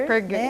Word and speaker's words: Asperger: O Asperger, ele foi um médico austríaco, por isso que a gente pronuncia o G com Ger, Asperger, né? isso. Asperger, porque seria a pronúncia correta do nome dessa pessoa, desse médico.